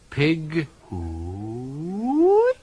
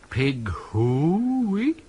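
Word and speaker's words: Pig-hoo-o-o-o-ey: The first syllable should be short and staccato, the second long and rising into falsetto, high but true. Pig hooey. Try it. Make it strong. Pig hooey. More body to the who.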